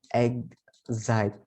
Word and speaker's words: exciting: kan cuman gitu aja Oh exciting itu bacanya egg site berarti ini dimulai pakai huruf vokal cara membacanya jadi harus